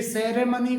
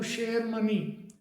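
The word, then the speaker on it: ceremony: ऐसे ही सी ई आर ई एम ओ एन वाई ये सेरेमनी करके बोलते हैं अपन जबकि इसका जो करेक्ट प्रोनाउंसिएशन होता है वो शेयर मनी शेयर मनी करके होता है।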